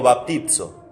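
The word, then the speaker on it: βαπτίζω: Se pronuncia en griego baptizo, que es como si fuera lo mismo, bautizo.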